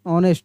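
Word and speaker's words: honest: यहां पर एच जो है साइलेंट लेटर है। इसको पढ़ेंगे ऑनेस्ट।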